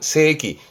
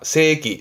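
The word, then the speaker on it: 世紀: 발음은 세기. 조심할 건 이때 발음은 길어요. 지금까지 발음은 전부 짧게. 근데 지금부터는 길게. 세입니다. 세기.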